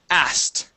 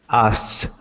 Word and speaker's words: asked: Now, the trick with this word is that we do not pronounce the k when we have an ed at the end. Instead of saying asked, we say asked. Yes. asked.